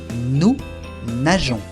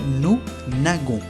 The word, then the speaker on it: nageons: Aquí se pronuncia jon. Nous nageons. Si no tuviera esa E, se diría nous nagons, lo cual es incorrecto. Se dice nous nageons, así que le agregamos una E entre la G y la O.